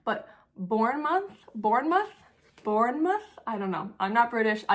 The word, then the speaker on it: Bournemouth: Looks like Born Mouth, but I know that's not right.